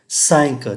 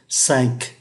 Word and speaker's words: cinq: Chẳng hạn như là trois thì không phát âm cái từ S cuối, quatre, cinq thì lại phải phát âm cho người ta nghe được cái âm Q, cinq, six phải cho thấy